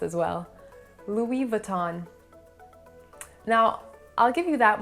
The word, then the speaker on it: Louis Vuitton: end is also silent so it would be louis vuitton the next one they recently dropped the first